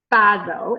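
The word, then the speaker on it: Bozzo: Val Bazzo is how you pronounce her name. It's B-O-Z-Z-O.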